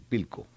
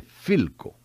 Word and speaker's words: Philco: aquel que está allí pilco dice el vendedor no no se dice pico la persona como efe se dice philco porque la persona como